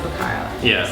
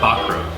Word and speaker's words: Bacaro: she still calls it barcaro so how do you actually s so yeah the right way to say it's uh bakro but I gave up